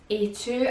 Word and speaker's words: Aatu: So this brand, as I pronounce it, is Aatu, a bit like a chew without the H.